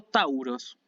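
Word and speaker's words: ταῦρος: técnica es por ejemplo el signo de tauro ahí tiene la pronunciación sí entonces tenemos como ejemplo que puse justamente en el verbo auto que significa aumentar piensa en el aumento así piensen para pronunciar el de tongo y piensen en los aumentos piensen en la inflación auto y el sustantivo tauros el signo tauro del zodiaco tauros que significa precisamente toro ahí tenemos el diptongo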